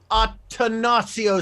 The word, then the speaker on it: Attansio: yes i'm able to speak okay oh octanacio speaks yes you got my name right yeah well it's because it's spelled there right there i have one like